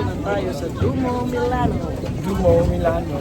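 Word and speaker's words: Duomo: tayo sa dumo Milano Dumo Milano. Dumo pala ang pronounce doon dumo yon dumo.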